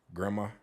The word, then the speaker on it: grandma: say grandma again bro grandma okay Grandma Grandma I probably did because I do say it like that grandma just take that D out grandson no Grand it's